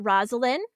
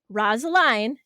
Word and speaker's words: Rosaline: I've heard it Rosalind, Rosaline, and I've also heard Rosalind, which I think is adorable. That's the one that I pick.